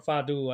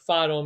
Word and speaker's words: fado: So Portugal is famous for their fado music, or fado, I guess is how they Yeah, actually pronounced yeah.